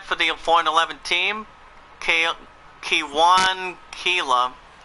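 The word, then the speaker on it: Kela: Going on to the Pirates bullpen for the 4-11 team, Kewan Keela. That's pronounced as K-E-L-A.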